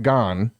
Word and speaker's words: Gans: So the movie is directed by Christophe Gans. I do know enough about France that you wouldn't pronounce the S. I'm pretty sure.